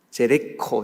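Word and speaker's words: Jericho: 제레코 이렇게도 발음을 하고요.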